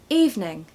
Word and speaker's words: evening: in the world but basically it's two syllables not three okay three everyone wants to say evening but actually it's evening evening so evening stress